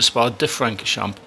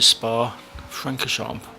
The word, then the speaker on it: Spa-Francorchamps: I actually say Circuit de Spa-Francorchamps, but it's not. It's Circuit de Spa-Francorchamps, or the Spa as it's generally known.